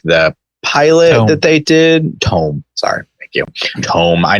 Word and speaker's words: Tome: Watched Over the Garden Wall, wonderful, and in that also watched Tomb of the Unknown, which is like the pilot that they did. Tome.